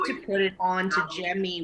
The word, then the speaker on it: Jemi: So I need to put it on to Jemmy, which is kind of like the equivalent of a Cameo, but it's spelled Jemi.